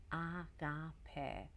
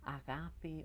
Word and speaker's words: agape: I think the Christians took that on, and this is what we call agape. Agape. Some people pronounce it agape or agape, is a divine love and being a channel for that and sharing it.